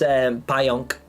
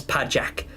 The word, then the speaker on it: pająk: Because to write the word pająk, you spell it like an English person would read it as pajak, P-A-J-A-K. But the J has got like there's, so you see, a lot of Polish letters have accents on them that mean you pronounce them differently.